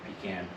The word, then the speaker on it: pecan: So from a linguistic standpoint, interesting, the pecan, the pronunciation of pecan or pecan is not geographically located.